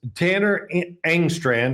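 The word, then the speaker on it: Tanner Engstrand: I will say this, Tanner Angstrand, that's how you say his name, came from uh Detroit, right?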